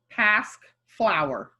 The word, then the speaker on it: Pasque flower: The word you see sounds like past flower.